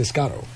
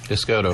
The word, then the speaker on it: Essoto: I'm saying Escato. Essoto. Essoto.